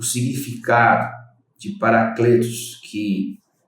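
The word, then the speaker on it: παράκλητος: né, do grego, que ela é traduzida, ela é pronunciada como Paracletos, tem um significado, irmãos, de alguém que é chamado para ajudar, para encorajar ou interceder por outra pessoa.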